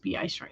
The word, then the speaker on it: B.I. Strunk: Miss Ocampo writes, note your Mandalorian's name is pronounced B.I. Strunk. Okay, yes. First name ends with the long sound and Strunk as in Strunk and White.